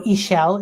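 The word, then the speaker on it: Ixchel: I do know X is pronounced sh or s in Maya. So Ishel is IX.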